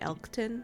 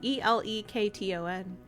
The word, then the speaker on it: Elekton: And I know, like, now that I'm seeing it, I see that it's Electon, and I don't like that, so I'm calling it Elkton. Oh, it's Electon? I mean, it's Elekton. Yeah, I said it wrong.